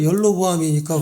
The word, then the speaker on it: 여로보암: 그러니까 열로보암이니까 그건 북쪽이지. 르호보암은 르홀보암이니까 하나니까. 한국말로 하나님이 헷갈릴까봐 뒤에는 똑같이 해놓고 앞에는 확실하게 구분하게 해놨어요. 여로보암은 한국말로 하면 있잖아요. 열로보암이라는 발음으로 발음이 되는 단어예요.